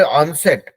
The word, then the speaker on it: onset: Okay, इसको बोले ऑनसेट।